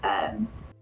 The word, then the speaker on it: Dreaux: The last part of it is dro. It's Dreaux. Okay.